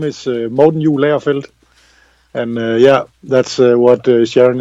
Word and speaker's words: Morten Juhl Agerfeldt: My name is Morten Juhl Agerfeldt, and yeah, that's what Sharon is trying to pronounce in American.